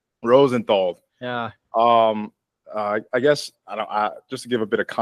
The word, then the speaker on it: Rosenthal: Uh, Rosenthal. Rosenthal.